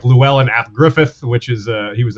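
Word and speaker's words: Gruffydd: uh gwyneth like the the double d sound is pronounced th in welsh so it's it's that's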